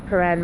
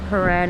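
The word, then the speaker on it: Prahran: if you notice here how the word pan is spelled and I'll take you for a closer look look is one of our silly words so pan is spelled p r a h r a n so there we go it's not such a um a simple spell and when I had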